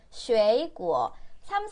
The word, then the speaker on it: 水果: 쉐이구어. 삼성이기 때문에 앞에 거 이성으로 발음하셔야 돼요.